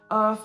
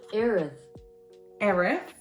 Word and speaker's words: Erith: But the main six are central library, Craford Library, Earth Library. That is not how you pronounce that. Erith, there we go.